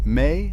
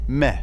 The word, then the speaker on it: me: What she stole has a name, the me, written with a single cuneiform sign, pronounced somewhere between may and meh, depending on which Assyriologist you ask.